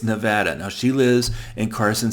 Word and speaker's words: Nevada: in Nevada and yes that is how you pronounce the state most people outside of the state say Nevada I was born in Nevada so I'm telling you right now it's Nevada now she lives in Carson City Nevada if